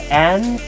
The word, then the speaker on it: interesting: It's not interesting, it's interesting. Because since there are only 3 syllables, the in, 3, and